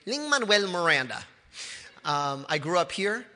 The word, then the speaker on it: Lin-Manuel Miranda: into Musical theater uh I pronounced my name Ling Manuel Miranda um I grew up